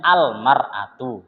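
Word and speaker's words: المرأة: Kan tadi kalau enggak pakai alif lam bacanya imro'atun. Kalau pakai alif lam bacanya al-mar'atu gitu.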